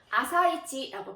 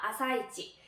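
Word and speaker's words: 朝市: 시장이라고 써붙여 놓은 걸 봤었는데, 자, 아침 시장은 아사이치라고 표현을 합니다. 아사이치.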